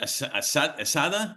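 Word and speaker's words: ESADE: You got your your MBA um is it Asada? Is that how you pronounce it?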